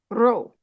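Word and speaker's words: ρ: is positive which is the p p p pronounced row yeah right and sometimes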